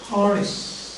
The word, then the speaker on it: Horace: we said and they see and it is pronounced Horace some people pronounce it as grace poison he